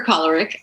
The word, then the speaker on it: choleric: Okay, so the choleric or choleric, depending on your pronunciation of it, is the kind of your original type A personality.